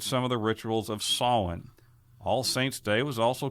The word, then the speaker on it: Samhain: end-of-harvest festivals of Samhain, S-A-M-H-A-I-N, but that's not the way you really say it. It's pronounced Samhain.